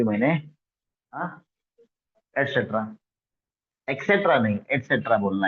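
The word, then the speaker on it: et cetera: एटसेट्रा, ATCETRA, एटसेट्रा. तो आप लोग इसको यूज करते हो एक्सेट्रा. नो, ऐसा आप प्रोनाउंस करते हो.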